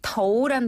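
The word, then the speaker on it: 头: 덩죠은 두통은이 더우라는 단어가 머리를 나타내거든요. 네. 머리 두자를 중국어로는 더우라고 해요. 더우. 예.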